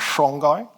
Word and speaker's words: Songhai: We then move to the third of the great West African desert empires called the Songai Empire. Some people pronounce that as Shongai.